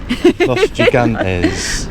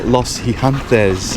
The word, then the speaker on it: Los Gigantes: It's Los G. Los Gigantes. Los Gigantes. Or Los Gigantes is the Spanish would call it, Jacqueline.